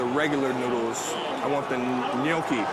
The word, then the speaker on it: gnocchi: I want the gnocchi. How do you say it, gnocchi?